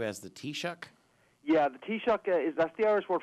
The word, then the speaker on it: taoiseach: is known as the t shock so if you want to take the correct pronunciation would i take a cup of tea and i might give you an electric shock t-shock that's a good